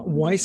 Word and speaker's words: Weiss: Well, my name is Weiss, as you so kindly pronounced correctly. That rhymes with advice, which happens to be the name of my podcast, Weiss Advice.